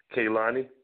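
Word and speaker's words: Kehlani: talk about you know the musical artist K kayani is that's how you pronounce her name right kayani yes yes yes so I would like to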